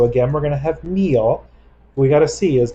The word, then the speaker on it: mío: Remember that mío has an accent on the I.